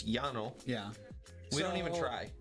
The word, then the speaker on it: llano: because it's spanish okay we say llano it's yano yeah we don't even